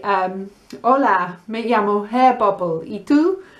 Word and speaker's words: hola: you when you say hola be careful cuidado don't say the h the h is silent and when you say